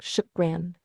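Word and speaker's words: شكراً: It's pronounced roughly like shukran. It's a really common phrase and people use it all the time. It's interesting how different. Close. But can you say shukran?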